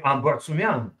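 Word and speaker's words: Ambartsumian: I can pronounce in a Russian way Ambertumian.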